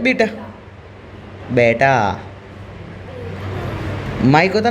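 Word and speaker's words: beta: थीटा alpha बीटा gamma, बीटा है ना। वापिस से क्या बोला? थीटा alpha बीटा gamma. Pronunciation match करना है ना। इसको थीटा मत बोलना, इसको बेटा मत बोलना, है ना।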